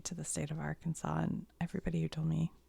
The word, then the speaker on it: Arkansas: I spelled it wrong you guys have to admit Arkansas Kansas right so this would be ar SAS right AR Kansas Aransas how is it not spelled like this I would like to